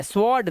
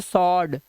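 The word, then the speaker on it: sword: इसे पढ़ते क्या है स्वर्ड नहीं इसे पढ़ते वा होता ही नहीं इसे पढ़ते सर्ड सिर्फ सर्ड ठीक है अब देखो आर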